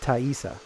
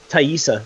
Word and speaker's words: Taissa: her name is pronounced taissa taissa taissa it's sort of like aisha taissa Veera wow that